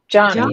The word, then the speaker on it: Joni: about is it Joni or Jonai? Jonai Erickson Tata. She talks about it. Johnny is the Mm-hmm. way she pronounces it.